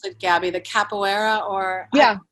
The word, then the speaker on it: capoeira: I don't know, how do you pronounce it, Gabby? The capoeira or? Yeah, capoeira.